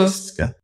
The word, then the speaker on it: Francisca: Francisca.